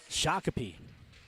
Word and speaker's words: Shakopee: Shakopee.